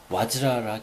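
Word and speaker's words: वज्र: 그럼 드디어 이게 바즈라라고 하거나 VAJRA, 이 범어에서는 VA를 와라고 읽습니다. 와. 근데 이 V를 그대로 V 발음을 해서 바즈라라고도 하기도 하고, 어떤 때는 벤츠라고 하기도 하고, 벤자라고 하기도 하고, 와즈라라 하기도 하고, 좀 다양합니다.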